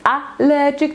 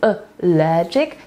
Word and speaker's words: allergic: W słowie allergic mamy akcent na logic, więc to nie jest allergic, to jest allergic, tak jak available, ze względu na to, że akcent jest na drugą sylabę.